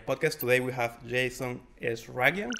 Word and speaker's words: Eshraghian: of the Nei podcast today we have Jason is Ragan how to pronounce it properly smashed it how is that